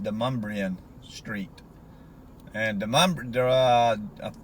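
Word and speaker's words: Demonbreun: video it's spelled like demon brune but it's pronounced demumbrian Street and the uh I think Joseph de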